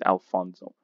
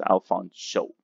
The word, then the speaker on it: Alfonso: singing acapella alfonso cruz pronouncing the sh sound is very important he gets offended if he browses as alfonzo so that's alfons show floyd winters unfortunately his